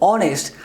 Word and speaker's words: honest: written the word honest whenever we attend we pronounce this word honest the the initial sound the beginning sound is